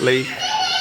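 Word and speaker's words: Leith: Royal yacht here in Lee I think it's Lee it's about sorry pronounced Lee in Edinburgh and um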